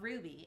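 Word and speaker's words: RWBY: This is Ruby Rose from an anime show called Ruby, and it's spelled R-W-B-Y.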